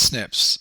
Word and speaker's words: SNPs: particular database on uh snps um pronounced snips these are single nucleotide polymorphisms so this particular study